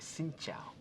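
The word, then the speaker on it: xin chào: it's very easy okay like sinow sinow sinow okay so that'll be that'll count as my one good thing I learned today so thank you for that so sinow tree um because obviously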